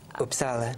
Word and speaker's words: Uppsala: Teachers at University of, how do you pronounce it? Uppsala.